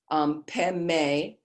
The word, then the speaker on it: Padme: The very bottom at 6 o'clock, Om Mani is Pe, Peme, like a palm, Peme Hung, as you go right around clockwise.